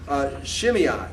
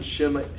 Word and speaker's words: Shimei: Well, yeah, AI is always pronounced like I. Okay, because so A has a sound of ah, and I has a sound of E, so it's I. Okay. I, so they get an I.